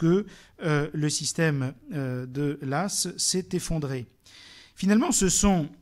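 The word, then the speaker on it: Law: banquier écossais John Lass ça se dit Lass même si ça s'écrit l'au hein l la W pardon hein qui euh a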